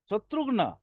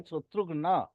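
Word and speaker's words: शत्रुघ्न: बोला जा सकता है क्या बोला जा सकता शत्रुगन शत्रु नहीं होंगे शत्रु शत्रु ना जैसे राम के छोटे भाई नहीं थे शत्रु अ शत्रुघन शत्रुघन नहीं भाई शत्रुघन संस्कृत उच्चारण करो ठीक है सर माने व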